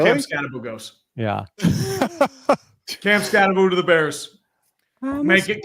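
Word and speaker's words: Skattebo: The people talking to him were calling him Scataboo. Scataboo. Where's the other O?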